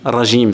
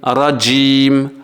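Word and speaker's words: الرجيم: est néglige en fait on dit rajim régime ça c'est faux la bonne prononciation Mina Sheita Jim rajim rajim rajim donc Jim faut bien rebondir dessus Mina Sheita d'accord et ça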